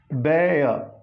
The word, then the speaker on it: bear: So it is bear. This final R is to be silent.